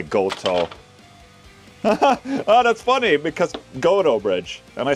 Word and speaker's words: Gotoh: Oh, that's funny because Gotoh bridge.